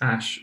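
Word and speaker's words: æ: that it is that the ae symbol is actually pronounced ash it's an ash symbol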